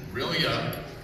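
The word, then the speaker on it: R'lyeh: Cthulhu lives in Rilya. Dagon lives in Yaneth Play. Of course, these words were never designed for human speech organs, so we're just approximating. But in order to make the meter work, that's how we pronounce it.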